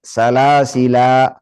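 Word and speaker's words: سلاسلا: Menetapkan alifnya, berarti dibaca dua harakat. Salasila. Yang kedua membuang alifnya. Nanti kalau alifnya dibuang tinggal apa? Lam. Berarti lamnya diapain? Disukunkan. Salasil.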